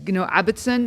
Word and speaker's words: Abbotson: Abbotson? Like how? Or Abbotson? No. I don't even know how to pronounce it. You got it right. It was first time Abbotson, but I prefer.